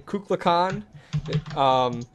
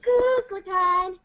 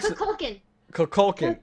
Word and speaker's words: Kukulkan: I apologize if I butcher the name, Kukulkan Khan. But wait, what? Kukulkan Khan? Would someone else like to pronounce his name? I love you so much. Thank you, I appreciate it. Kukulkan.